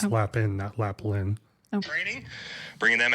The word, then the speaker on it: Lapin: some co-branded in-person Farms couldn't even pronounce Greg's last name correctly there's no l at the in the middle it's lap in that Lapin training bringing